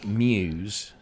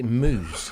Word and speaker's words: Muse: I don't he he instead of saying uh Muse what did he say moose probably probably love it